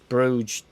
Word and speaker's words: Bruges: for bruges in belgium bruges as one silent g i reckon he's from